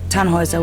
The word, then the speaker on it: Tannhauser: what's your name Tannhauser we pronounce it tan Wazza with an armload German